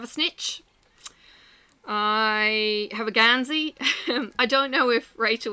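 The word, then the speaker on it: Geansaí: I have a Gansey.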